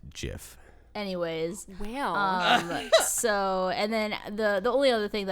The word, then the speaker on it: GIF: of gifts and and what excuse me it's pronounced jiff anyways so and then the the only other